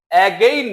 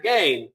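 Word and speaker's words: again: এগেইন, উচ্চারণটা হবে অ্যাগেইন না গেইন, এটা ছোট হয়ে যাবে।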